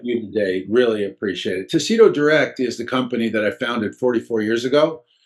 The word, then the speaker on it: TaCito: TaCito. Is that how you pronounce it? No, it's TaCito, TaCito.